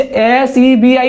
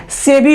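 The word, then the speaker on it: SEBI: जैसे एस ई बी आई नहीं होता है। सेबी होता है।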